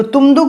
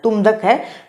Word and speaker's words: तुमदक: तुमदक है, मेरा उच्चारण थोड़ा गलत हो रहा था, तुम नहीं, तुमदक किसे कहा जाता है, तो मांदर को।